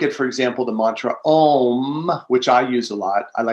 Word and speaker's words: Om: And if you look at, for example, the mantra Om, which I use a lot, I like to spell it A-U-M, chanting the mantra Om, it's very similar to the word Amen, and also to Shalom.